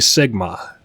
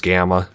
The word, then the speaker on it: Gamma: So, 100% 100% 100% 100% 100% and now finally Sigma. All right. Turns out I was saying his name wrong. Apparently, it's Gamma.